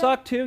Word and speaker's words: SOC 2: SOC 2, yep, that's another one that's out there too.